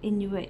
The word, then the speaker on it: Inuit: a Inuit guide pendant I think Inuit is is how you pronounce it and it's um